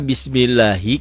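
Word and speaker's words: بِسْمِ اللَّهِ: Kenapa Bismillahi? Karena sebelum lafaz Allah barisnya di bawah, ini dibacanya tipis tarkik ya.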